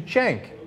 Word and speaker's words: Cenk: He says Cenk Uygur, which is the most common mistake.